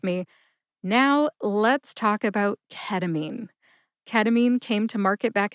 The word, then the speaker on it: ketamine: Ketamine has three syllables. K like a keg of beer. T like tug as in tug of war. And mean as in bullies are mean. Put all that together and you get ketamine.